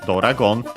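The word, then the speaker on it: ドラゴン: the other hand, is Doragon. Dragon, of course, as you might, you can clearly see it. Not too different. honestly, the biggest difference is the additional O for do.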